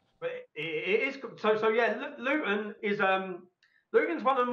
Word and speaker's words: Luton: So we pronounce it Luton. We drop the T.